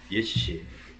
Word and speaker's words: 월지: 기원전 3세기의 강대한 예씨. 이 월지는 실제 발음은 예씨입니다.